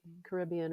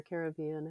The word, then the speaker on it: Caribbean: be baptized here in the Caribbean or Caribbean, however you prefer to pronounce it.